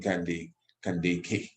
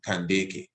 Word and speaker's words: Kandake: we speak of the queen candy candy so that's the more proper pronunciation a more ancient pronunciation is the candeke as well give thanks